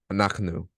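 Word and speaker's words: אנחנו: Anaknu. I must mispronounce that.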